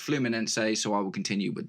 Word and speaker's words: Fluminense: I actually looked up how to pronounce the name because I've been saying Flummen, but no, supposedly in Portuguese it is pronounced Flummen.